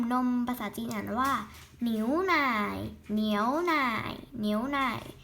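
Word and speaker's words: 牛奶: นี้ คือ นม นม ภาษา จีน อ่าน ว่า หนิว ไหน่ เหนียว นาย นิ้ว ไหน ๆ ก็ คือ เหนียว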